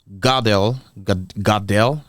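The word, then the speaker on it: Goodell: so the commissioner of uh the NFL Roger gel gel that's how to pronounce it he say that they're good nothing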